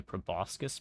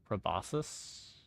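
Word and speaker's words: proboscis: I choose the proboscus pronunciation or probosus. You got to pronounce the C. It's half the fun. Every item finds its body. It's a relationship, you know. If they didn't want you to pronounce the C, they wouldn't have put it in the word.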